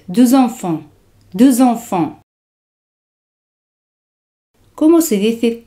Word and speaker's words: deux enfants: En francés se dice deux enfants. Se hace la liaison. X se pronuncia como Z. Deux enfants.